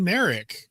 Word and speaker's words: Marek: Sean Merik. Am I pronouncing that correctly?